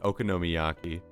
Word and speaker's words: okonomiyaki: Okami how do you say that okono Miaki okonomiyaki he wanted to make okoma Miyaki one day